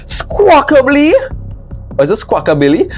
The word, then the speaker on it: Squawkabilly: Donphan, Articus, Camerupt, Squawk, bro, how do you pronounce this man name? Squawkably? Or is it Squawkabilly? Squawkabilly!